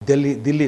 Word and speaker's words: Delhi: Delhi, not Delhi. We should avoid anglicized expressions, anglicized pronunciation. Delhi, it is Delhi, not Hyderabad. It is Hyderabad.